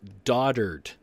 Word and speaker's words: dotard: well first of all it is not do like I thought it was it is daughter'd daughter'd as pronounced on pictured